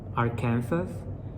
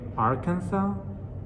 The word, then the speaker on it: Arkansas: wrong is are kansas i know in english i'm supposed to say arkansas but to me it's spelled the same way as in spanish and it's just like kansas by just adding art at the beginning so i'm like how